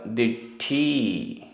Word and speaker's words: दिट्ठी: मूढ़ दिट्ठी, मूढ़ दिट्ठी आधा ट ठ, मूढ़ दिट्ठी।